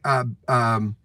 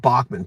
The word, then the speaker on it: Bachman: Randy, Bachman. I had to think about that. Randy Bachman told me the same thing. It's not Bachman. People say Bachman. He said, I don't care if they say Bachman Turner Overdrive or Bachman Turner.